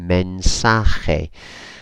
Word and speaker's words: mensaje: message men Sahay and here is worth just spotting that a.j is a sort of sound you don't need to go overboard otherwise you probably if you're speaking somebody probably gonna cover them in spit so it's a gentle kind of sound or actually